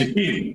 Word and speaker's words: Shaqiri: Shakiri. No, you pronounced it right. Shakiri. You pronounced it right.